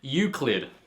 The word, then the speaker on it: Euclid: Next up, we got Euclid. That's right, I learned how to pronounce it now.